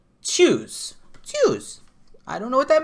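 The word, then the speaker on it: Tschüss: So it's TSCHU with an umlaut, with the two little dots on it, SS, and it's pronounced shoes with it. So it's choose.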